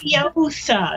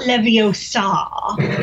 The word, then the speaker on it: Leviosa: Leviosa, not Leviosa. Flick and swish!